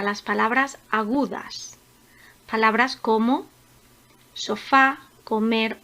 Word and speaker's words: sofá: Comenzamos con la palabra sofá. Sofá es una palabra aguda, porque al igual que comer, tiene su sílaba tónica en la primera sílaba.